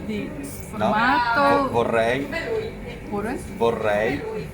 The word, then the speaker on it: vorrei: Vorrei. Pure? Vorrei. I would like is vorrei. Ah, vorrei. Vorrei. V. V. V. Si pronuncia tedesco.